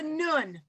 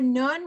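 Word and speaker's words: נון: now there's it's it's called a nun n-u-n right or n-o-o-n however you want to pronounce it um and there is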